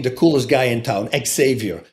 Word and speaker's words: Xavier: And one of the girls was dating the coolest guy in town, Xavier, that's how you pronounce it in Holland.